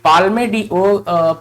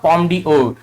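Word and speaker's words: Palme d'Or: ये पाल्मे डी ओर, पॉम डी ओर वास्तविक इसका जो उच्चारण होगा पॉम डी ओर।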